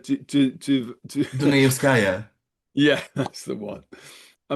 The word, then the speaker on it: Dunayevskaya: the you know, like people like I can't pronounce the name Raya Di Di Di Di Di Dunayevskaya.